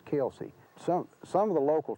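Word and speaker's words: Kilsyth: H, which would be Kily or something like that, is is Kelsey.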